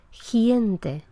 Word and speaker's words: gente: el castellano de Chile, la articulación de esta velar ante una vocal que sea palatal, o sea, ante vocal E o ante vocal I, es muy anterior, se pronuncia en la parte anterior de la boca, de manera que al hablante de otra zona le parece escuchar gente en lugar de gente. Gente como si hubiera una I entre el sonido consonántico y la E.